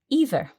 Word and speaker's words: either: So what I noticed here was you, Mark, you pronounce the word either, as you did. Mm-hmm. Naturally, I would pronounce this word either. Okay. And that's absolutely fine. Some people say either, some people say either.